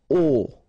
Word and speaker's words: aux: aux, okay, and then phonetically you produce it or you pronounce it o.